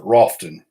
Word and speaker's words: Rutherfordton: us that's called that it's spelled Rutherfordton, like it's. I think it was named after the President Hayes, Rutherford B. Hayes, and but it's called Rutherfordton, and everybody up there calls it Rofton.